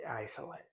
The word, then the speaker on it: Jsolette: It's the Agfa Jsolette, although it's quite often spelt with the old German capital I, which looks like a J, but it is the Jsolette.